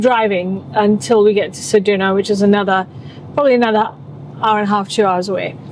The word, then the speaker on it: Ceduna: Because you can't pronounce it, you can't stay here. So we're going to Ceduna. No, Ceduna.